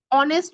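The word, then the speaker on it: honest: তারপর আমরা যদি দেখি সেগুলাতে আমাদের ভয়েসলেস যে সাউন্ড গুলো আছে যেমন এফ এইচ আমরা যখন অনেস্ট বলি তখন কি এইচ এর উচ্চারণ হচ্ছে নাকি ও এর উচ্চারণ হচ্ছে আমাকে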